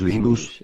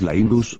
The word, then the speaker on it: Linus: Cuando hablo sueco es Linus, cuando hablo finés es Linus, cuando hablo inglés es Linus, y realmente no me importa cómo lo pronuncie la gente, pero Linux es siempre Linux.